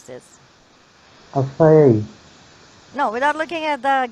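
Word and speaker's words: açaí: The stress is a third syllable. Third syllable, or you can say last syllable, okay? Okay, last. Very good. You're very good at determining where the stress will be and how many syllables are there in this word. Okay. So it should be pronounced like acai.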